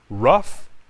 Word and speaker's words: rough: Rough, like in suffer.